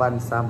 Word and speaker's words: Viu: ครับ ผม อ่า แอปวิว viu อ่าน ว่า ิว นะ ครับ ผม ซีรีส์ เกาหลี